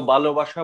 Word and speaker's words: ভালোবাসা: ভ হবে ভালোবাসা। এখন ভালোবাসাকে নিশ্চয়ই আমরা ভালোবাসা বলবো না, তাহলে ভুল হবে। যদি কেউ ভালোবাসা বলে তাহলে সেটা হবে ভুল, অর্থাৎ অল্প প্রাণ বলে ফেললো সে, কিন্তু উচ্চারণটি মহাপ্রাণ, তাই হবে ভালোবাসা।